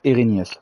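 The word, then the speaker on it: Erinnyes: Ok, ça se prononce Erinius.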